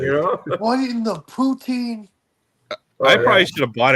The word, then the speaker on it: poutine: Did you remember what did you forget with the poutine last time?